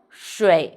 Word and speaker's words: 水: So pay attention, this one. 诗, roll your tongue. 诗, and this is 水. Very good. Let's write it together. First one. 树钩横撇捺 Very good. We know 水 means water, so I